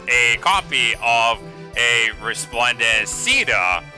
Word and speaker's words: Caeda: copy of a resplendent ceda keda shita i don't know so many pronunciations but i'll go with ceda because that's the most canon one so uh cena's been